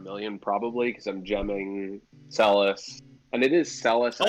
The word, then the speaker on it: Celes: of Final Fantasy, and they do say Celes. And so I'm trying to fix my pronunciation on that. I'm trying to fix my. So Celes is the official one.